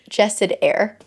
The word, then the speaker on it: Jasad Heir: So, it's Jasad Heir. That's what it is.